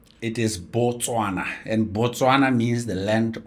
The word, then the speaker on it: Botswana: How do you actually pronounce it in your local language? It is Botswana. And Botswana means the land of Batswana, the land of the Tswana people. That's what it means. So, it's Botswana.